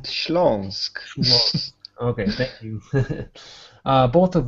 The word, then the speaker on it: Śląsk: The most famous of the state ensembles were the Mazosia and Slosk. You'll have to help me with the pronunciation. Sorry. Mazowsze and Śląsk.